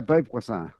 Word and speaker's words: Beauvoisin: it is French. Yeah, Beauvoisin is how you say it. Wow. Beauvoisin.